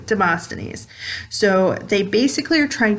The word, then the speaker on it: Demosthenes: of lock and dim demostanies i never demosthenes i never pronounced that correctly demosthenes so they basically are